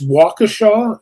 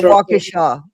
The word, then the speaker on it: Waukesha: And it's Waukesha. Is that how you pronounce that? Yeah, Waukesha? Waukesha County Sheriff.